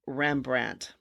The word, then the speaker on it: Rembrandt: a n t and then he later added the D which was silent for the name rembrand we don't really know